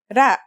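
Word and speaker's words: ر: first letter is R its closest English counterpart is the letter R but it's a different sound that must be learned ra it's not too hard to pronounce though right note how it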